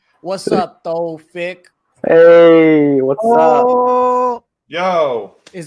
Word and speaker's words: Thofiq: What's up, Thofiq? Hey, what's up? Yo. Is that how you say how do you say your name? Okay. Let's see. It's Thofiq. Thofiq.